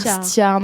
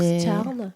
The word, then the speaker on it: Stjerne: Mais moi, j'aime bien dire Stjarn. En fait, c'est entre un E et un A en termes de prononciation en danois. Voilà. D'accord. Donc, Stjarn.